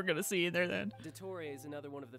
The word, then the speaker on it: Dottore: Based on my limited understanding, I believe this is one of Dottoro's research facilities. Oh, it's pronounced Dottore!